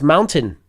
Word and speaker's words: mountain: how do you pronounce Mountain Mountain like Chairman Mao Mao Mound so two